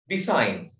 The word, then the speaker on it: design: Design. Design. What is the silent letter of design? Design. G.